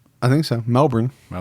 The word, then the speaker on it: Melbourne: Melbourne. Not Melbourne. Melbourne. It's Melbourne. Good day.